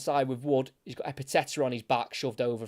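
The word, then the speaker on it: Ekpiteta: for um for Blackpool it's a silent k I couldn't believe it I was trying to work out how he say his name I was like eeta but I've heard him say his name and that K was certainly silent so it is EPA not not Etta or anything like that so it's back with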